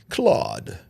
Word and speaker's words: clade: Clade 1 and Clade 2, if I'm saying it correctly. And I know there's a possibility that it could be Claude. But more than likely, especially down here in Alabama, we say Clade.